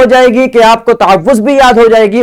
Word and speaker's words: تعوذ: آج ہم نے پڑھا کہ تعوذ کا درست تلفظ تعوذ ہے. اکثر اسے تعوذ پڑھتے ہیں، تعوذ پڑھنا غلط ہے. اس کا درست تلفظ ہے تعوذ.